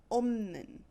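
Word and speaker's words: 없는: If you look at opta, opta, this form would be pronounced omnin.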